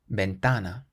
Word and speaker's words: ventana: It means window, and we stress the syllable before last, ventana, ventana.